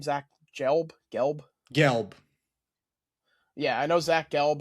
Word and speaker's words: Gelb: Gelb.